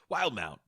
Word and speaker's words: Wildemount: And I think it's just got an extra E because Matt Mercer thought it looked cool. So just because the way that English works, it wouldn't be pronounced that way. We'll say it Wildemount. Wildmount.